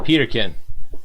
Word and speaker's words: Peterkin: Peterkin. I tried to put like some type of spin on it. It was as easy as it read.